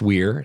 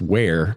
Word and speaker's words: Weir: which i found out his name actually is pronounced weir like i've always been pronouncing it and i